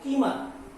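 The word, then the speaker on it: Kilmer: ये पोएम है और इसको जॉय किलमर, जो इंग्लिश का प्रोनाउंसिएशन है उसके हिसाब से एम के पहले एल को पढ़ा नहीं जाता है, इसलिए हमको इसको हम पढ़ सकते हैं जॉय कीमर।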